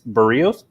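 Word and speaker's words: Berríos: Tell them how to properly pronounce his name. So, and I heard you. It's Berrios.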